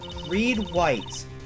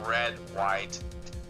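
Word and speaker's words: Redd White: you were with that man he's my boss Reed white oh and there's that name again the president of the information gathering glomerate blue Corp red it's actually pronounced red white information gathering well I suppose you could call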